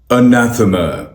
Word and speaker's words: anathema: इस वर्ड की correct pronunciation है अनाथमा, अनाथमा, अनाथमा, अनाथ, म, अनाथ, म, अनाथ, म, anathema, anathema, anathema.